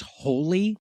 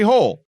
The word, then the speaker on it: Hole: to be sure but according to the books the correct pronunciation resembles the English word holy good so it'll start